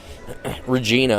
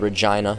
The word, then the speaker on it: Regina: was that uh manosi manasi however you Canadians pronounce it it's not Regina it's called Regina and then you kind of laugh and snort